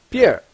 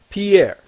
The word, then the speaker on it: Pierre: write it like this people are just going to pronounce it Pier we want it to be pronounced Pierre so this is how we